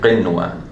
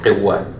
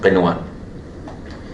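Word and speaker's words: قنوان: So here, we pronounce it normally. We say qinwa. Because if somebody mistakenly applies idgham here, he would say qiwa, which if we hear it, we don't know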